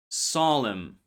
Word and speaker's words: solemn: Silent n appears before am at the end of words. Words like autumn, column, condemn. The n was once pronounced but later dropped.